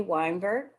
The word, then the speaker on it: Wynberg: this glorious film am i pronouncing your last name correctly weinberg that's correct thank you so